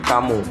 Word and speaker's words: Camus: kamu ya atau Albert chamus ya lu terserah lu mau baca gimana Tapi ya yang gua tahu cara bacanya itu adalah Albert kamu ya gua di gua